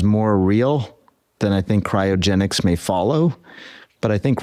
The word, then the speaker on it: cryogenics: My next question is about cryogenics. We got to say it. That's 3 syllables. Cryogenics. Okay, got it.